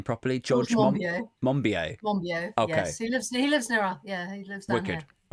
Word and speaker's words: Monbiot: So George I'm positive I'm not pronouncing his name properly. George Monbiot. Monbiot.